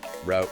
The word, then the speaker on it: route: The examples given were pairs like creek sometimes pronounced as creek coyote with two syllables versus coyote with three route rhyming without versus root rhyming with boot.